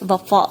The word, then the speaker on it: وفا: میم کے اوپر پیش، وفا واو کے اوپر زبر، صدا اور نثار نون